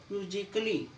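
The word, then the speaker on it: musically: Double L वाई आए, जब भी ए के बाद डबल एल वाई आएगा तो आपका ए साइलेंट होगा। फिजिकली, लॉजिकली, म्यूजिकली, ए है और ए के बाद डबल एल वाई आया हुआ है तो ए साइलेंट।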